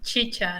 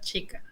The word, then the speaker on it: chicha: far from peru right have you ever the pronunciation is chicha no chica ah see i knew there was a good